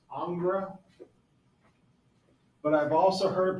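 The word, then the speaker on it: Ingres: picture over here okay our next artist is angra it's spelled i n g Rees it's pronounced angra but I've also heard it pronounced Ang or angra so I just call him anger all right he is another Napoleonic artist and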